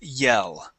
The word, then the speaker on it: yell: Okay, the pronunciation is very, very close. Okay, but the position of the tongue when you pronounce a Spanish L and the position of the tongue with the English L is just a little bit different.